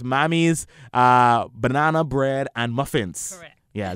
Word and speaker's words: Mammie's: like you see this here together so it's mommy's banana bread and muffins yeah that I pronounce it right yes okay so tell us